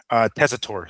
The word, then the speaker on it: Tessitore: Tessitore, Joe Tessitore.